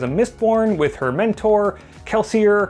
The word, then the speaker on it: Kelsier: mistborn with her Mentor kelsier or keler if you were to pronounce it in Universe when he drops a